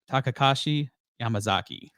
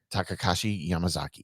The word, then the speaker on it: Takashi Yamazaki: It's pronounced Takashi Yamazaki. Takashi Yamazaki.